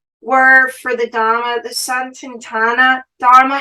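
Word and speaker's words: Sanatana: the the full word for the Dharma the sun tintana Dharma how do I pronounce that it's sanadana Dharma yes sign tonight oh we can't get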